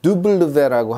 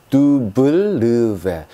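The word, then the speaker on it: double vé: 네, 이번에 배울 알파벳은요, 두블르베라고 하는 녀석입니다. 이름이 좀 어려우니까 같이 한번 따라해 보겠습니다. 두블르베, 두블르베 이렇게 합니다. 두블르베. 한 번은 그냥 블 하고요, 마지막에는 v 사운드 해서 두블르베 이렇게 읽습니다.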